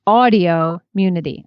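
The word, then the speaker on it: Audioimmunity: from audio immunity here quick pronunciation guide it's audio immunity i think i said it wrong so audio immunity same number of syllables as autoimmunity i wanted to respond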